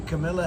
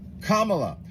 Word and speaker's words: Kamala: old you know that the Camila Harris Kam La Kamala if you really want someone to listen to what you're saying you should probably pronounce their name right period question mark hyphen